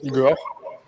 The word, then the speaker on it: Ihor: Évidemment, c'est une citation qui est en France, c'est écrit Igor, mais ça se prononce Igor.